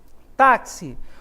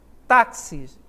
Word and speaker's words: táxi: paroxítona deve ser acentuada táxi observem onde está a sílaba tônica Ah tá aqui pessoal na palavra tá táxi não é E observa